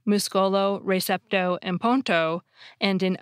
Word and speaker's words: ponto: Bridge, which has a silent D and E in English, changes completely and becomes ponto, spelled P-O-N-T-O.